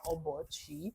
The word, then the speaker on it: Obuchi: First of all, my name is Obuchi. Obuchi is spelled O B U C H I.